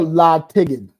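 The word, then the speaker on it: La'Tigid: d La yes or La tiged yeah make it a hard G La Ed Damon laig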